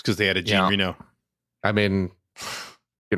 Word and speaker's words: Jean Reno: Jean Reno. is how you actually pronounce it.